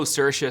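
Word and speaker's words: Saoirse: make her sure I say her name right cersa right yeah I I I I go cersa CA I mean it depends on the day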